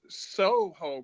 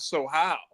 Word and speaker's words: Soho: if that's the case then why is soho called Soho and not so how and I and that's